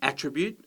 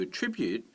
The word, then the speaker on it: attribute: all of these so if you talk about the attribute of something then it's a noun at the beginning but if you attribute something as a verb it comes as the second syllable you talk about an